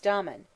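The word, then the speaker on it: Damon: His teacher in music, most writers state, was Dmen, whose name they say should be pronounced with the first syllable short.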